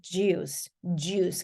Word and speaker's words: juice: 그러니까 주스 아니고 juice. 그래서 음을 내면서 앞으로 입을 쭉 내면서 그래서 I like oranges.